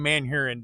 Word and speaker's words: Manhurin: And Manhurin, the name Manhurin, does that not sound? I mean, Mandarin. It rhymes with Mandarin.